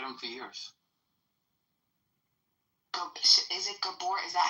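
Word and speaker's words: Gabor: Is it Gabbor? Is that how you pronounce it?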